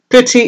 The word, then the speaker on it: Priti: wanted to talk about Priti Patel Bertie is not the way it sounds is spelt PR iti but I guess she's